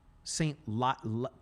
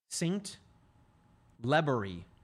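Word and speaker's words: St. Libory: I feel like I'm messing the pronunciation up. Let me Let me see if I can get a pronouncer on that. Lebery Saint Lebery. Yep, there it is. That is from the Nebraska Broadcasters Associations. Saint Lebery. Okay.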